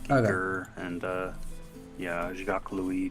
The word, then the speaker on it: Giger: And I was saying, man, I always said Geiger. I guess it's wrong. So it's Giger, H.R. Giger.